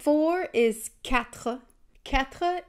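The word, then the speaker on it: quatre: sound for is katpa katpa is actually kind of like saying cat with like a hook at the end so cat poop v is sank I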